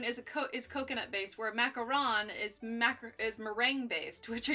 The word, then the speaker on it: macaron: First off, a macaroon is coconut based, where a macaron is meringue based. Which are you trying to say? Well, the pencil. It must be macaron, that's what it is, because it's not spelled with two O's, so pink macaron is what it's called.